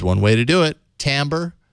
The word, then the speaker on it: Timbre: way to do it tambour it's cut join convert mp3s as TI m bre if you're doing a search for it even though you pronounce it Tambor but there you go